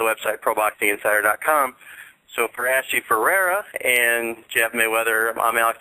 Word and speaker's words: Ferrara: actually it's pronounced or it's spelled f e r r a r a but it's pronounced Ferrera so isn't that it's